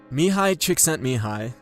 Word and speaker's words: Mihai Csikszentmihalyi: Mihai Csikszentmihalyi and that's by the way how you say